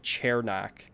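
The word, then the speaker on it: Cernak: it said it was chair knack so we've been saying sir i've heard yeah it literally said on hockey reference chair dash knack so i'm gonna call him surnak for now that that's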